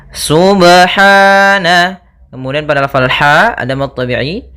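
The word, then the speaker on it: سبحان: pada lafal ba sukun Apabila ada huruf ba dia harakatnya sukun maka ada hukum Qalqalah maka harus dipantulkan dalam membacanya hati-hati juga dalam pantulannya jangan sampai ada tambahan Hamzah atau di dalam bacaannya ada sakta Misalnya subh ini sakta kalau dia tambah nzah Subhana harusnya dia sub ya Subhana Kemudian pada lafal ha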